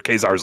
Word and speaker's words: Caesar: And then also, I loved all the stuff with Caesar's Legion or Khazar's Legion. They don't know how to pronounce the soft C.